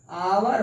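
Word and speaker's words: hour: यहाँ देखिए एच से स्टार्ट है, लेकिन इसका प्रोनाउंसिएशन जो होता है आवर होता है, आवर होता है।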